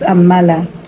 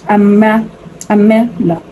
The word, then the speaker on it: Amella: Number 2 on the list is Amala. Amala. It's spelled Amella.